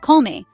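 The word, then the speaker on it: kolme: k me means three say Cole like B and me like you're not feeling well say it with me colme three is a magic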